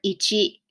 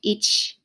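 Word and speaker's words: いち: it becomes itchy so this is the number ichi ichi it can also be pronounced each each where the final sound of e is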